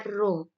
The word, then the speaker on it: Rho: Nah, ternyata ada 3 faktor yang mempengaruhi tekanan hidrostatis suatu zat cair, yaitu adalah massa jenis, dilambangkan dengan Rho, ini bacanya Rho, ya.